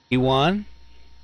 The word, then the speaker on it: Ioan: How do you say your first name? Ewan? Ewan, Yes. spelled Loan. Ioan.